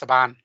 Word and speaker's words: Saban: have done from 20th century fox uh also saban entertainment who seemed to mainly do like 90s children's uh tv shows and movies and all that a lot of straight tv it was pronounced saban was it saban isn't it okay i was